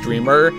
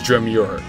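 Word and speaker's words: Dreemurr: This is where I found out how to actually pronounce Dreamer, because I always thought it was Dreamure.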